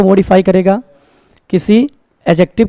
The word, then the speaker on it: adjective: गलती से भी इसे आप एडजेक्टिव नहीं बोलेंगे, एडजेक्टिव, क्योंकि जब भी आपका डी और जे रहता है वहां पे हमेशा हमारा डी क्या होता है? साइलेंट होता है. तो क्या बोलेंगे? एडजेक्टिव, नॉट एडजेक्टिव.